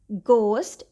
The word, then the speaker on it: ghost: If GH is at the beginning of a word or at the beginning of a stressed syllable, it is pronounced as G. For example, ghost, it is at the beginning of a word.